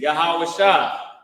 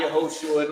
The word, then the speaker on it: Yahawashi: Christ name his name Jesus is yahawashi not yahushua not Yeshua none of that which is